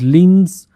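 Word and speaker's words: limbs: वो चटक गई हिज लिंस श्रैंक ठीक है तो बी साइलेंट हो जाता है इसमें लिम ्स यानी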